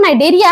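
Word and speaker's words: Cnidaria: यहां पे सी साइलेंट है। जैसे तुम्हारा दिमाग जो है पेपर के टाइम साइलेंट होता है ना वैसे ही सी यहां पर साइलेंट है।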